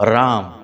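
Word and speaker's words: रां: उच्चारण करना है ओम राम राहवे नमः यह राहु का मंत्र है यहां पर राम नहीं है राम अं की बिंदी है राहवे नमः इस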